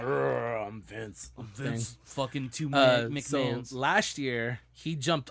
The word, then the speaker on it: McMahon: And he doesn't pronounce it weirdly. No, he's part of the family. Yeah. Okay. McMahon, yeah.